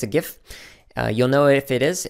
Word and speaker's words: GIF: by the way in case you're wondering it's pronounced a gift not jiff it's not peanut butter also you don't pronounce